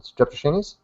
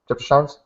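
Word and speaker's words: Strepsirrhine: So, that was a transitional fossil between haplorhines and streptoshines? Stepsorine.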